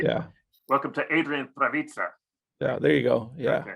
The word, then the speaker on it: Prawica: So either one, but yeah, Prawica would be the correct pronunciation. As a radio person, as a journalist, I like to pronounce it correctly. Yeah. Welcome to Adrian Prawica.